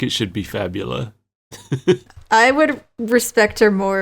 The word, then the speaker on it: Fabula: So, now we're introduced to Fabula, our guide to Wonderland. Fabul. Yeah. I don't know. They pronounced it Fabula in the in the dub, so I'm going with that.